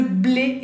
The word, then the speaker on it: blé: Y última palabra que puse, le blé es el trigo, le blé, bueno, acentúo, le blé, y tenemos la B, que viene labial, como la P, blé, blé, le blé, el trigo.